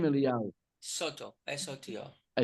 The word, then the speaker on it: Soto: Soto, S-O-T-O. I said, what's your Soto. last name? Soto. Eliyahu Sotel? Okay. It's Soto.